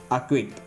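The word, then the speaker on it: acquit: அப்போது lock, black, buck, clock, acknowledge, அக்விட், இந்த மாதிரியான வேர்ட்ஸில் என்ன ஆயிடுதுங்க, சி சைலண்ட் ஆகிடுது.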